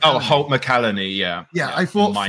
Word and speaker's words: Holt McCallany: Fritz, which was played by, how do you pronounce his name? Holt McCallany. Oh, Holt McCallany, yeah.